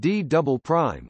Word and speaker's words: D″: The lowest part of the mantle next to the core mantle boundary is known as the D, pronounced D double prime, layer.